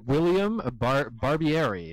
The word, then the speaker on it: William Barbieri: So we have William Barbieri. Is that the correct pronunciation of that name?